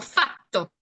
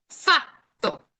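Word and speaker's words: fatto: Entonces, si se dan cuenta, la diferencia principal es que la consonante doble dura más tiempo.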